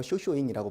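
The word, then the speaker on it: 正倉院: 창고 이름이 바로 정창원, 일본 발음으로 쇼쇼잉이라고 불러요. 이 정창원에 가면은 상당히 많은 우리나라의 문서들이 남아 있는데 그중 하나 고려시대 때 우리나라에서 일본으로 전해준 불경이 있단 말이죠.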